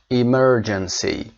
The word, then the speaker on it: emergency: emergency استرس روی م. emergency.